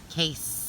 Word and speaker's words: case: that's easy enough hey case like snake and then there's a sneaky silent e on the end so what we're gonna